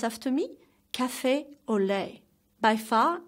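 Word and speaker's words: café au lait: second drink is cafe au lait ok let's pronounce after me cafe au lait by far it's my favorite authentic French drink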